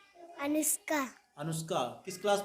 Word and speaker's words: अनुष्का: अनुष्का। किस क्लास में? कक्षा 2। अनुष्का की स्पेलिंग बताओ हमें। अनुष्का की अंग्रेजी ए हाँ?